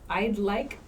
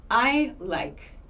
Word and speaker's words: I'd like: I often hear is Learners forget to pronounce this D it's not I like that's a totally different grammar pattern but I'd like I'd like I'd like